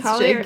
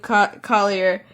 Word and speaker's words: Collier: Collier. How do you say his name? Collier. I always want to get real fancy with it, like Collier. I always want to get so French with his name.